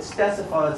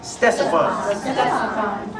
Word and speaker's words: Ctesiphon: It starts with a CT, but you pronounce it Ctesiphon. Say with me, please. Ctesiphon.